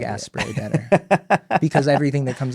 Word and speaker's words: Asprey: I thought it was pronounced as spray as in two syllables. I I don't know. I don't I like aspay better because everything that